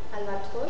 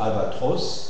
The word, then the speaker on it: albatros: Et dans certains mots qui se terminent comme ça, la prononciation sera fermée. Tu lis les exemples. Albatros Albatros Alvatros gross gross gross axium axium axium Amazon